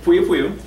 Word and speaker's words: poiupoiu: I pronounce it Poiupoiu.